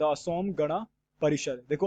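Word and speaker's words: Assam: पहला क्या है द असोम गणा परिषर देखो असम को असाम कहा जाता है बट इसकी स्पेलिंग यही है अब दूसरा क्या है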